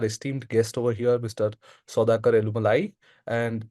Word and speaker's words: Soudhakar: guest over here Mr sakar elumalai and correct me if I'm mispronouncing your name Saker no no you can I mean I think that's the right pronunciation thank you so uh